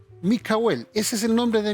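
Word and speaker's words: מיכאל: Miguel es la palabra Micael, ¿ya? Eh, y se pronuncia o fonéticamente Mikel. Mikel, ese es el nombre de Miguel.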